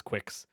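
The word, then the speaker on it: GQuuuuuuX: very excited for this is that actually how you pronounce it Quicks yeah quick okay yeah yeah because they they say it multiple times in the movie so okay but yeah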